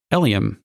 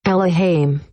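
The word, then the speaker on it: Elehayym: in this case is it's not Eliam you pronounce it oh hi I'm al hi I'm al hi I'm Ella Haim boys I think it's Ella Haim is that probably because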